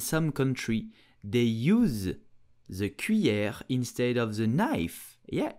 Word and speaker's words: cuillère: You will say cuillère, cuillère, cuillère, cuillère. Here the double L makes the sound y, so c'est cuillère. Did you know that in the Philippines and some country they use the cuillère instead of the knife?